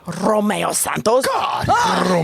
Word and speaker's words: Romeo Santos: Romeo Santos. Yo, I'm sorry. I just got turned on how you rolled your R. Like, most people don't say it right. And the way you just rolled that R, it's like, yes.